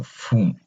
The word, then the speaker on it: fünf: So as you can tell, the U has two dots, so that's an umlaut. So whenever you have that umlaut, so you kind of just want to pronounce the U, the U as a U, so fünf.